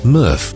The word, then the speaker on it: MRF: current material recovery facility mrf pronounced murf in Forest Road Tamworth